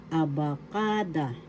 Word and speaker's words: abakada: Aakada aba abakada. First syllable a second syllable ba syllable ka syllable da abakada abakada abakada abacada the accent is in the third syllable ka in English that's alphabet